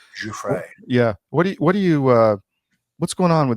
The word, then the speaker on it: Giuffre: Giuffre.